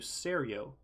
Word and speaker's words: serjo: go to Soul Stein they call you Serio. So, they pronounce the J like a Y uh like you would to say YL or something like that.